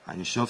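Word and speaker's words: Ein Sof: Einshof, c'est la correcte prononciation de sans limite en hébreu.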